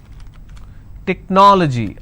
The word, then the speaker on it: technology: Technology. How many syllables do we have here? Technology. This is the ending. So I leave one, then I go to the next, and I pronounce this as technology.